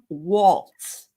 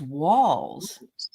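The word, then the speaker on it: Walz: Did you notice that Vance called Tim Waltz, like a waltz? Yeah. His name is Walls.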